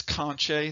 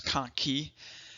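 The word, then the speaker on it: conchae: then last but not least we have the konkey and some people pronounce this conch a that that's fine a lot of your textbooks though actually show the proper enunciation is konkey so we have us we have superior middle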